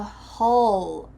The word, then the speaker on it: hull: I think it came from the hull of a ship. That's the bottom of a ship. Hull. This is a short U like bus.